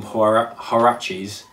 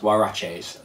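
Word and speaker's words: Huarache: of mine um nike i've always called them horror haraches but apparently they are pronounced waraches um but i've never heard anyone ever say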